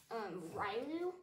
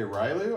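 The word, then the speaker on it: Riolu: I believe this is pronounced Ryloo. Okay, Ryloo, all right.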